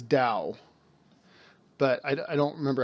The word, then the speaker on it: Tao: exactly how it's pronounced I know the TA o is says Dao but I don't remember